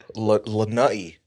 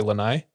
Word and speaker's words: Lanai: you pronounce it yeah and then all the white people say lanai yeah that's okay yes